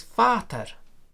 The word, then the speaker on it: Vater: Now, if you move to German, the word for father is Vater, and the P of pater has become f. It's written V, but it's pronounced f.